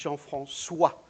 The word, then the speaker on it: Jean-François: For instance, if you wouldn't have that, that would be Jean-François. And with that, it's Jean-François. So like a S.